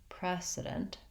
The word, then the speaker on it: precedent: and fast on it precedent precedent president i have the same stretched first syllable and i move to my z sound so here's where my prez my vowel duration is going to be a little longer that'll help you hear the difference between president and precedent and then i have